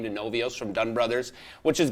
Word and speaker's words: Novios: Novios is how it's Novio.